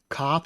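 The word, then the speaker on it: כף: Kaph is spelled with the plosive K sound. That's with a kamatz underneath, making it a ka sound. Ka.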